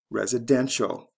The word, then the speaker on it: residential: follow the same patterns residence residential first syllable to third syllable c e to t